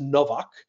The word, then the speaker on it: Nowak: Paul G noack or it's pronounced Novak but it's spelled like no whack but you can follow